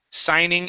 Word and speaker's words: signing: just like that okay this word here is signing okay so the g is silent signing in signing in good